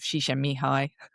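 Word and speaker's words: Csikszentmihalyi: states no and the work of shisha mihi that's how I pronounce his name correctly and and you say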